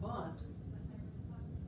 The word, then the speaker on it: Wundt: And it's pronounced Wilhelm Wundt because he's German. W's are pronounced like B's.